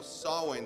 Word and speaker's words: Samhain: be leading her annual Samhain celebration. If you look in your handout, it's the thing that looks like it's spelled Sam Hain, but it's an Irish, it's a Gaelic word, it's pronounced Samhain.